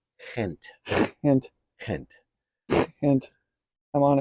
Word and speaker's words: Gent: got a see on it's not pronounced gent in Belgium it's pronounced hint hint hint hint I'm